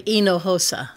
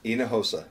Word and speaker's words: Hinojosa: It starts with an H, which is silent, and then the J in the middle sounds like the H. Okay. So it's really Hinojosa. Hinojosa.